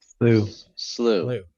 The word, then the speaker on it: slough: Say it again. Slough? Slough. Slew. I don't know why I can't say that. It's spelled too weird.